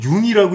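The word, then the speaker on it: Jung: 아니 이 사람은 왜 중이라고 써놓고 왜 융이라고 읽는 거야? 이러면서 이렇게 웃었던 적이 있었는데 사실 그 독일어권에서 이거는 그 반모음이에요, 반모음. 반모음 그냥 이하고 똑같다, 이.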